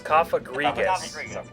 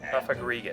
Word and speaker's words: Cofagrigus: that or cofagrius yeah that's what it was coffagrigus cofagrigus yeah the one with the mummy ability anything